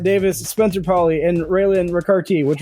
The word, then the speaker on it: Ricarte: joined by Brett Davis Spencer Paulie and raelyn ricarti which rhymes with vivarti and we're going to start with